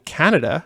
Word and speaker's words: Kaneda: uh but then when i heard the name canada because it's it's k-a-n-e-d-a but it's pronounced canada in the teriyaki boys song for